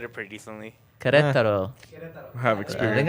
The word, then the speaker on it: Querétaro: Querétaro. Querétaro. Kataro. Querétaro. Actually, RK said it pretty decently. Querétaro. I have I experience. think I nailed it. And then Henry? Kataro.